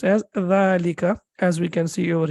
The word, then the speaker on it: ذلكَ: but then we when we pronounce it we prolong it for two seconds and we say the